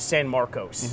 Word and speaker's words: San Marcos: bit further south is San Marcos. You have to say it the right way. San Marcos. San Marcos. San Marcos. People spell it with a U, it's with an O.